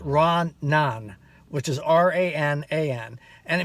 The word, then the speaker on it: ranan: It's pronounced Ranan, which is R-A-N-A-N, and it means actually two things.